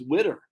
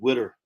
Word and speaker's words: water: she kept saying witter what's witter and that's how they pronounce water in south jersey witter who wants some winter